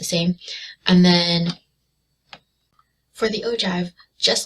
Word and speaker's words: ogive: frequency graph or the ogive so it's spelled kind of funny it looks like ogive but it's actually ogive so on our y-axis